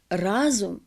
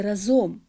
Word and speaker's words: разом: особ хотілось би сказати про прислівник Шановні телеглядачі разом а не разом можливо тут проводиться паралель зі словом гуртом але все-таки нормативним нормативною є форма разом і на сам кінець